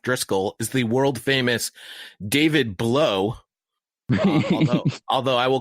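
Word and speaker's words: Blough: is the world-famous David blow although I will call that real right the correct pronunciation of his name is Blau he is a he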